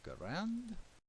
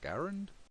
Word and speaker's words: Garand: And you will have a Garand, or Garand, however you want to pronounce it, and a grenade.